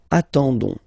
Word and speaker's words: attendons: nous, so O-N-S, okay, you don't pronounce the S, so you get only this on sound, okay. Attendons, nous attendons, so we'll make the link between the two, la liaison.